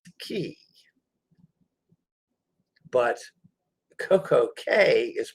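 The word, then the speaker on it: CocoCay: head down there again tomorrow tomorrow we're in coco k interestingly enough the c-a-y for most bahamian islands is key it's pronounced key but coco k is pronounced k i'm not sure why but smell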